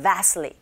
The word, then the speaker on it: vastly: vastly 틀리만 안 하시면 돼요, 여러분. 이때는 틀리보다는 트사운드 거의 안 들리고요. vastly, vastly 이렇게 발음이 되는데 특히나 앞발음 시작하실 때 V 발음인지라 윗니로 아랫입술을 살짝 밖에서 안으로 이렇게 살짝만 긁어주세요.